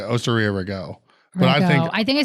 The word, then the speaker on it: Rago: Osteria Rago. Yeah. I literally I think do- I was saying ragu, maybe.